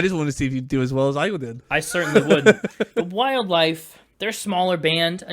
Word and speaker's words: Wldlfe: The Wldlfe, they're a smaller band, a newer band, probably a name you're maybe hearing for the first time, just like we were.